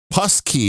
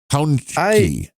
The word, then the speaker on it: Pączki: PE zi no and pus key which does not sound does not sound good but the first symbol that PA is pronounced like pound it says rhymes with town so pound pound key yes yeah I don't